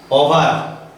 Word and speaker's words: o'er: অভাৰ, O'ER, ইয়াত ভিটো সাইলেন্ট হৈ আছে, ইয়াত আমি ভি ধৰি ল'ব লাগিব পঢ়োতে।